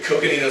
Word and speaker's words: Coconino: So below the Coconino, I always want to give it a S sound instead of a hard C. The Coconino sandstone and the Hermit